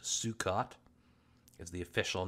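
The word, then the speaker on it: Sukkot: I'm getting it wrong I believe it's pronounced sukot is the official name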